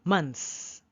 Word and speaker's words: months: about the th no don't worry about the th say months you see let's go months months pretend that the